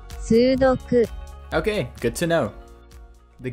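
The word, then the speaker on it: 数独: If you're unfamiliar, this puzzle originated in Japan and is pronounced like this in the original. Sudoku.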